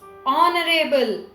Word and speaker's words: honorable: of the company is now h consonant but the sound it creates is honorable or is which is a vowel sound so an honorable person